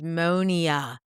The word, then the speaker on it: Monya: needs ammonia, quite frankly, and it's Monia. Monia, that's how you say her name.